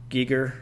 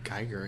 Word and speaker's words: Giger: you heard of HR Giger Giger I've heard gger I think it I guess it could be pronounced either way HR gger HR Giger